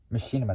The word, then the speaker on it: Machinima: The popular Halo I can't really pronounce this word as well. I can't even say this word. Okay. Machinima, there we go.